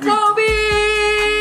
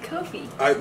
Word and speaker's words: Kofi: Kobe! You said Kobe. Said Kofi.